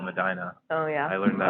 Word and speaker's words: Medina: they also have a it's spelled like Medina like in Saudi Arabia but they call it Medina oh yeah I learned